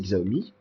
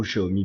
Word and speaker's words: Xiaomi: le logo Xiaomi ou le logo Xiaomi comme vous le prononcez xomi ou Xiaomi bien sûr donc ensuite